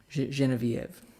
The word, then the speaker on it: Genevieve: from my fiance now this is genevive genevieve always have to qualify with the correct pronunciation jet tuning thanks